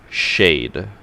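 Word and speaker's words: Caed: They said their name is pronounced Shade.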